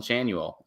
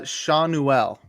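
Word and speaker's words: Schanuel: insane numbers um is the Angels rookie Nolan Chanel um he's respacing 25 I got the pronunciation Davis what it's uh Shanel okay shanell there you go okay he's reached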